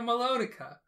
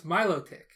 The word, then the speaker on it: Milotic: melodica i didn't say a melodica no melodic the pokemon no that's milotic oh my god so